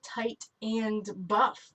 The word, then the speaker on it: Titan Buff: see it so fast it sounds like tight and buff which is one of